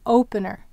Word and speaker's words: opener: Where's the accent in opener? It's on o.